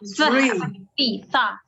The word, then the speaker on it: three: Karena kalau tree, jadi ada bedanya. Ada tree, ini tree atau tree, pohon. Kalau ini three. Makanya dia pakai H di sini. Lidahnya artinya digigit.